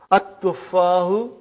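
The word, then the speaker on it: التفاح: But now your mind knows that that is a sun letter. So you will pronounce as at-tuffahu. You will put a shadda anta.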